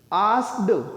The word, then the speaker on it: asked: आस्क्ड हम बोलते हैं इसे आस्क्ड, वो ड नहीं बोलते, हम ट प्रोनाउंस करते हैं।